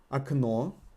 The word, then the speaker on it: окно: Окно. Окна. Can you hear what happened here? We got a floating emphasis. Окно. Окна. And the emphasized O is pronounced as O again.